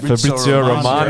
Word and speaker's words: Fabrizio Romano: Fabrizio Romano.